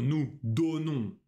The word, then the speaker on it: donnons: Замечаем, что nous donnons, vous donnez о закрыты. А все остальные формы je donne, tu donnes, о открыты. О. Je donne, nous donnons. Это разные звуки.